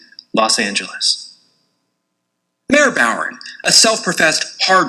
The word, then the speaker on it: Los Angeles: For a great many years, I've been accustomed to the use of the hard G, Los Angeles. The citizen jury has rendered its verdict. I accept that verdict. I yield to the expression of the majority, and from henceforward I will pronounce the fair name of our great city, Los Angeles.